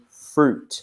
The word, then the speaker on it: fruit: juice in the pronunciation we also say fruit so see we don't pronounce that I am so fruit we